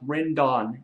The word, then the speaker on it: Rendon: I kept saying Rendon, it's pronounced Rendon, and I apologize for that.